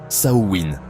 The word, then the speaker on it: Samhain: En Irlande, on parle de Samein qui se prononce Saowin, un mot qui signifierait fin de l'été.